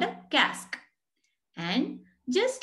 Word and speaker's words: casque: It rhymes with mask. So just as you say mask, you say cask.